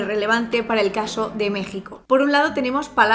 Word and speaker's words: México: México, México, México, México, México. ¿Por qué México se escribe con X pero se pronuncia con J?